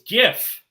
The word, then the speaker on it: GIF: how do you say it oh oh it's GIF okay all right that makes sense go [